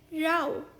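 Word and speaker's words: row: रो यानी कि पंक्ति इस शब्द का दूसरा उच्चारण है राव यानी कि की झगड़ा for example they had अ Rau over who would sit इन the first रो देखा फिर से मैंने वही किया राओ रो आठवा शब्द है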